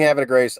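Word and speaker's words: Havre de Grace: have a Grace is am I saying have a Grace I don't know if I could pronounce that correctly that's what the locals say h Grace okay kind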